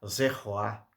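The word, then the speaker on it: zeroa: Esse era o zeroá, ou zeroá. É melhor pronunciar zeroá, que era o cordeiro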